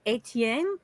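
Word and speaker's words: Étienne: Our French patriarch was Etienne. Am I pronouncing that correctly? Etienne, yeah.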